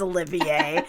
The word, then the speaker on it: Olivier: Everyone knows how to pronounce Olivier, as in Laurence Olivier, the actor.